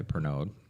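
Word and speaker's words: Pernod: Although, rumor has it they were just bought out by Pernog. So, Perno, I think it's pronounced.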